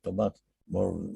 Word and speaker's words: Tomás Molnar: que se lee poco, Tomás, tal como se escribe, Tomás Molnar, Molnra, que yo recomendaría